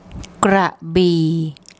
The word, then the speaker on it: Krabi: So what I'll do now is get my wife to give you the correct pronunciation of this place name. Krabi, Krabi, Krabi.